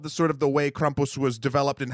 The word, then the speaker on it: Krampus: The myth and and the legend behind Krampus and and uh I'm saying it like that because Kristoff Waltz on the internet taught me that's how you say it.